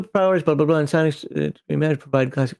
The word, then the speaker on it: psionics: It's pronounced psionics. Stop doing the P. You sound stupid.